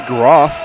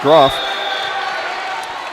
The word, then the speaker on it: Graff: Colby Graff. Now, depending on where you're from in the world, it could be Groff, right? That's, from the motherland, it's pronounced Groff. Over here in the States, maybe not.